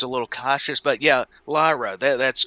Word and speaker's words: Lyra: I can practice the thing a hundred times, so I'm always a little cautious, but yeah, Lyra, that that's correct.